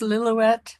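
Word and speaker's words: Lillooet: In in English it's Liilowette.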